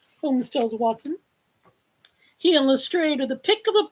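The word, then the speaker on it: Lestrade: And it's Lstrade, not Lstrad because Doyle's granddaughter said, "Oh, no." He always pronounced it lrade just like it's spelled actually.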